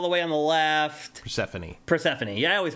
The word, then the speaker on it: Persephone: So anyway, these are pronounce all the letters in the ancient Greek stuff for some reason. Yeah. It's those E's want to be known.